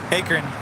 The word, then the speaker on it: Akron: I certainly have that Akron Akron rhymes with apron now forget it Akron